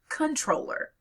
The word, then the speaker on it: comptroller: So when comptroller was suddenly spelled with a P, people started pronouncing it as comptroller, not controller, as it was originally pronounced.